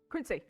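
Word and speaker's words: Quinzy: Oh, Quincy. Is that Quincy? Quincy. Yep. Okay. Quincy with a Z. Quincy. Okay. Oh, it's got a Z, but it's pronounced Quincy.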